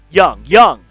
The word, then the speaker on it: Jung: I'm sorry if I'm pronouncing Jung. Okay, good. Jung. So Young. Yep.